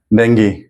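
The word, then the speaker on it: dengue: ये डेंगू नहीं है मैक्सिमम लोग डें बोलते है ये डें नहीं है चाए ये देखिए स्ट्रस सिल दिखाई दे रहा है ना यहां पे दो सिलेबल्स है तो कौन सा वाला को प्रोनाउंस करना है ये वाला सॉरी कौन सा वाला को स्ट्रेस करना है इसको स्ट्रेस करना है दे ठीक है इसको स्ट्रेस करना है डेंगी डेंगी डेंगी तो डी साउंड उस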